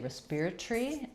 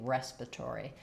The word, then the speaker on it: respiratory: They say respiratory, and we say respiratory. So I think their pronunciation makes a little bit more sense because if you see well, they changed the ending, respiratory, and we changed the beginning, respiratory.